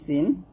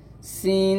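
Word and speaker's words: سين: এখানে সিন এবং সদের মাখরাজ যদিও এক, সিন পাতলা সদ মোটা।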